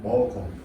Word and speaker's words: 먹어: 라고 이렇게 쓰지만 실제로 발음은 먹어.